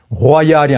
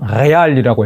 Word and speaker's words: Real: 그러니까 호아이알이 아니고 레알이라고 했대요.